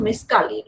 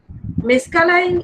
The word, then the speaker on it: mescaline: It is sometimes pronounced as LINE also.